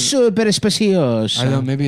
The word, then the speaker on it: Super Speciosa: They sent a link to how to pronounce super speciosa. Super speciosa. Because I guess I was saying it wrong. It's super speciosa.